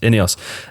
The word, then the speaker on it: INEOS: INEOS that makes a lot more sense yes any us Jim Ratcliffe and any us so Jim Radcliffe